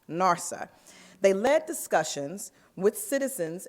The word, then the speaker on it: NRSA: Neighborhood Revitalization Strategy Area, or NRSA, pronounced NARSA.